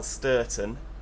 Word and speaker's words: Sturton: This is how you spell Sturton. S-T-U-R. Thank you.